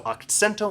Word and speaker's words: akcento: So akcento and singing, and you can also think of this, Akcento. I sent the accent to the second syllable.